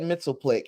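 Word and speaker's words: Mxyzptlk: And I know it's impossible for you to put this the pronunciation in the comments. But I've always said Mitzelplick, and I think it's because when I was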